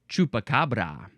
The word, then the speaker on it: chupacabra: All right, next we have chupacabra. This is with a capital C because it's the name of a thing. It's its name. Chupacabra. Chupacabra. Abracadabra, chupacabra. No.